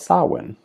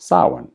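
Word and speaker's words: Samhain: celebrated a holiday called sawin and that's how it's pronounced sawin even though it may not look like that someone is about halfway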